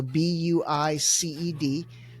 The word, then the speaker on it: Buiced: It's spelled like the word juiced with a B. So Buiced.